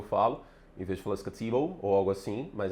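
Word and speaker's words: Skattebo: O T americ inglês americano é R, né? Então fala scatrible é difícil para mim, eu tenho que concentrar sempre que eu falo, em vez de falar scatable ou algo assim, mas é scatable, é uma proparoxítona.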